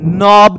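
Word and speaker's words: knob: होता है ना इसको हम नॉब कहते हैं वहां के साइलेंट होता है आगे चलो नेक्स्ट वन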